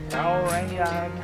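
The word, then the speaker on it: Kauaeranga: Kauranga Kauri Trail.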